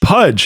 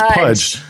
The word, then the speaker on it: Puj: provides for better conversation is it P P puj Pudge it is Pudge does Pudge but it is spelled puj I'm laughing at myself